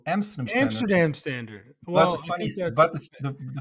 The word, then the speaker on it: Amsterdam Standard: made a very funny introduction there because you pronounced it as American Standard and my company's called Amsterdam standard amdam standard fny but the funny thing is